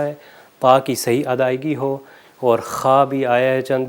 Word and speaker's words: هو: پر وما ہوا بالحزل، یہ ہائے دو چشمی ہے کہ جو کہ اندر سے آرام سے ہا جب کہتے ہیں اس طرح تلفظ کیا جاتا ہے، اگر اس کو ہا حلوے والا کر دے تو یہ غلط ہو جائے گا۔ اس کو دوبارہ